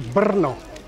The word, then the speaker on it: Brno: The same thing happens to the trill R, as in the name of the city, Brno.